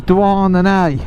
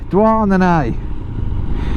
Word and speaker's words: Douarnenez: So this place that we're coming into now, this is Douarnenez. Yeah, Douarnenez. It's spelt nothing like it's pronounced.